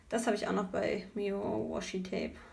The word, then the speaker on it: meowashitape: I don't need to say why you know why this is a fav tape it's beautiful from >meowashitape< it's not pronounced like "meow" because a "w" is missing via etsy this is